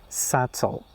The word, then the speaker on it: subtle: No, they are sometime they are somehow different and they are debt doubt subtle. The B is followed by T in all of them. So you don't pronounce the B.